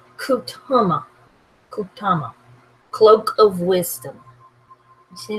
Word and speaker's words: Kutama: It's pronounced Kutama.